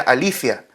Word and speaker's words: aletheia: yo soy la verdad allí en el griego es aletheia en realidad se pronuncia alicia no en el griego actual da lo mismo cómo se pronuncia el tema es que